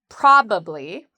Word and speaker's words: probably: So how do we pronounce this word? Well, the first part is where we have the stress, where we say it's stronger and louder and longer. There's actually two different pronunciations of this. You can say with uh three syllables probably. Probably. Or you can say it in conversation with two syllables. Probably. Probably or probably. You will hear people use both.